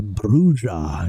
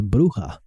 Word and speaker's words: bruja: Uh the the pronunciation that they use here, Brua, is definitely not Mexican. In in in in Spanish, it says bruha, and it just means witch.